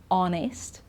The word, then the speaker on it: honest: When we don't pronounce the H, because you know that we do usually, okay?